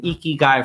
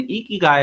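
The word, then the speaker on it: ikigai: Many of you hear me talk about the eeky guy framework.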